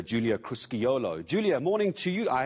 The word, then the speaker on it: Crusciolo: It's Julia Crusciolo.